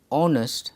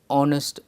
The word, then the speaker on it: honest: the vowel sound because the sound of the letter h is silent therefore it is pronounced honest and ann is used he is an honest police officer 17 question